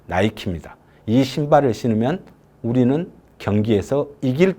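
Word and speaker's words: Nike: 목표가 숨어 있는 겁니다 나이키는 그리스 로마 시대에 나오는 여신의 이름입니다 닛케이죠 니케 그런데 이걸 영업 발음으로 나이키입니다이 신발을 신으면 우리는 경기에서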